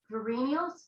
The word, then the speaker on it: Verenios: I'm going to start with Elizabeth Kirkpatrick Verenios. Verena, how do you say your last name? Verenios. Verenios. Elizabeth Kirkpatrick Verenios. Yes, like friendly, only with a V.